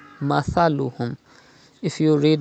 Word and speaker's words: مثلهم: You know, Tha is pronounced without whistle. Mathaluhum. If you read Masaluhum, it is not correct. Read Tha without whistle. Mathaluhum.